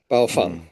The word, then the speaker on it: Baofeng: out on the Googles, you can find a recording of 4 Baofeng sales reps being asked this question at a trade show, and they go, "Okay, guys, in 3, 2, 1," and they all say it together, Baofeng.